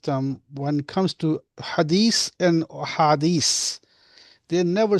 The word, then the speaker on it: Hadith: But how come all the imams and ulamas, that majority of them, when it comes to hadith and hadith, they never say hadith or hadith. They say hadith, and they don't say the way it's supposed to be.